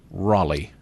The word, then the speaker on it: Raleigh: I've lived here for 20 years near Raleigh Raleigh okay that's how they say it there Raleigh